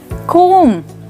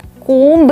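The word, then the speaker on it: comb: देखिए इसको कहा जाता है कोम, राइट। कौन सी साउंड साइलेंट है? परफेक्ट, इसमें बी साइलेंट है, लास्ट साउंड साइलेंट है। आप कोम्ब नहीं कोम कहेंगे, म कोम, राइट। सिर्फ म पे आप रुक जाएंगे।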